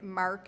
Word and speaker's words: marque: And I would sort of say, letters of marque. Now, I still have no idea what letters of marque are. But I have to say, Mark is spelled M-A-R-Q-U-E.